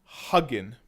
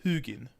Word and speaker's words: Hugin: This, if I look at it, and a lot of people when they read Hugin, they think it says huggin, as in a hug. But it's not. It's Hugin.